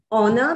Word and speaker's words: honor: but we say iron honor because h is silent o gets pronounced i